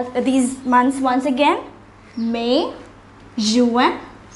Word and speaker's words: juin: June is pronounced as Juin. I repeat once again, it's Juin.